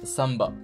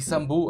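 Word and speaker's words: самбо: ça vous parle mais en russe ça se prononce samba s'inscrit Sambo avec un o donc les Français le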